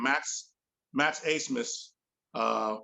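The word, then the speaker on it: Abmas: dude's name max max asmus uh which i thought was a funny pronunciation since his name is spelled a-b-m-a-s but max a-smith he leads the country in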